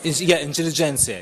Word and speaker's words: intelligentsia: Intelligentsia.